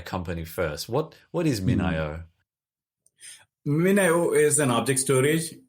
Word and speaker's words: MinIO: of and we did just discuss how to pronounce a company name and it's gone completely out of my head already minio that's right got it good so just first